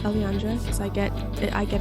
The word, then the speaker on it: elliandra: um and it's yeah it's pronounced Alandra so I get I